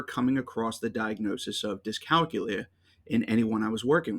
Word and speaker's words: dyscalculia: But as I went through the research, I came across multiple pronunciations: dyscalculia, dyscalculia, dyscalculia, and dyscalculia. So I highlighted this one because calculator, calculia, dyscalculia, that seemed like it would be appropriate.